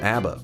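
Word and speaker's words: A.B.A: I think somebody earlier was saying you just pronounced it abba.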